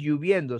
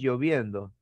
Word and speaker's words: lloviendo: en su forma castellana no es lluviendo si no es lloviendo no es eructo es eructo